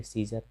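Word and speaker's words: Caesar: तो यहाँ पे सी ई के बाद ए आया है और यहाँ पे ए का उच्चारण नहीं किया जाता है, तो इसे पढ़ेंगे सीजर।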